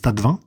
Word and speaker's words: Tastevin: Le tas de vin, ça s'écrit tasse de vin, mais ça se prononce tas de vin, se présente sous la